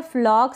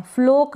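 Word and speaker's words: flock: flap फिर यह है फ्लॉक सी के को क पढ़ रहे हैं और ओ को यहां पर अ पढ़ रहे हैं फ्लोक ना पढ़े फ्लॉक अ का साउंड आना चाहिए ओ के लिए फ्लॉक मतलब झुंड होता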